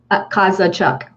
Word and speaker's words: Kozachuk: Now let me take my time to pronounce her last name. Kozachuk. Did I get it right? Kozachuk.